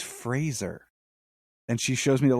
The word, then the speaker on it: Fraser: thing he was like my name is Brendan Fraser like Razer he's like it's always